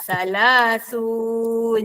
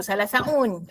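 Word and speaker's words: ثلاثون: 30 30 dalam bahasa Arab salasaun eh salasun eh yenza salasun jangan sebut salasaun okey maka 34 dalam bahasa Arab bunyinya ialah arbaah wa salasun 34 arbaah salasun.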